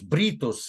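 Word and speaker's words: Brutus: остров в честь него, Брутус, Бритус, это валлийское произношение, основывает город новый, хотел сказать новую Сикин, новую Трою, который впоследствии стал известен просто под простым названием Лондон.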